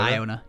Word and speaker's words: Iona: pirate deck uh we got Iona I own Iona right that's how you say it yeah Iona you got it we got Iona um man